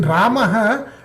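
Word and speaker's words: Rāmaḥ: In Ramaha, it is R plus A plus M plus A plus visarga. So the A gets extended.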